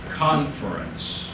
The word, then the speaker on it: conference: Stress on the second syllable, please. Mark that. Confer. However, it is conference.